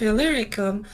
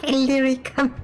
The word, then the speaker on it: Illyricum: behind the name of Illyricum. yeah, there's the reason why I'm pronouncing it Illyricum. Illyricum. That's kind of because that's kind of meant to be the more correct pronunciation.